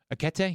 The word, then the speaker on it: Ekitike: Ekitike. Yeah. Is that how you pronounce his name? Akete? Yes. Akete. Yeah.